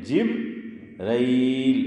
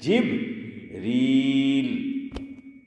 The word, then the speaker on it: جبریل: لیکن عام طور پر ہم کیا بولتے ہیں؟ جبرائیل. اور قرآن کیا کہہ رہا ہے؟ جبریل.